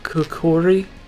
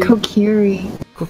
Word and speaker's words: Kokiri: I am part Kokori. Is that how you say it? Kokori? Kokiri.